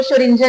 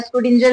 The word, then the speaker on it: Schrödinger: अब इस नाम को भी प्रोनाउंस करने के बड़े सारे तरीके हैं। कोई इसको शंजर कहता है, स्कडिजर भी कहते हैं। तो जैसा आपको कंफर्टेबल लगे आप वैसा बोल सकते हो।